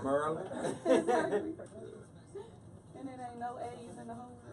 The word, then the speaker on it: Maryland: You can't tell me how to pronounce my state. Right, And exactly. it's Maryland. It's Merlin. That's how we say it. With 3 R's. What up, Gerald? Merlin. Merlin.